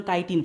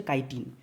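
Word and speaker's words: chitin: এটার উচ্চারণ কাইটিন friends, চিটিন নয়, অনেকে চিটিন চিটিন বলে, চিটিন চাটিন কিছু না, এটার উচ্চারণ হচ্ছে কাইটিন।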